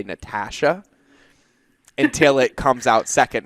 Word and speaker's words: Natasha: And then I'm going to figure out now whose name I'm going to mispronounce because my brain keeps saying Ash. Your brain keeps flipping the A.